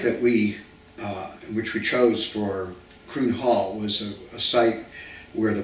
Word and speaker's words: Kroon Hall: Kroon Hall, have I pronounced it correctly? Kroon Hall.